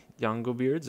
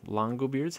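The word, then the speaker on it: Langobards: factions uh also the yongo Beards or Longo beards however you want to pronounce that I think that is a capital l so yeah Longo beards they're also a playable faction sorry about that mispronunciation and then this faction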